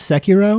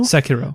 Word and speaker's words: Sekiro: I hope I'm pronouncing it right. Sekiro. I think it's Sekiro. Sekiro. But I'm not 100% on that. Maybe a little tongue spin in there. Sekiro.